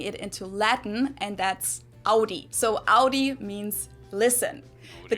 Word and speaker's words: Audi: first one is Audi most Americans that I know pronounce it like I just said it Audi in German we say Audi Audi and there's actually a